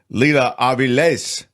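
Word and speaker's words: Lila Avilés: that terrific Mexican filmmaker Leela AES thank you for the proper pronunciation it has the accent at the end there so that's why I did that I will tell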